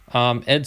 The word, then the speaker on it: y: donald e chuck because the y is pronounced e in spanish so donald chuck and